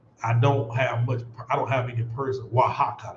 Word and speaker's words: Oaxaca: Oaxaca, yeah, that's how they say it.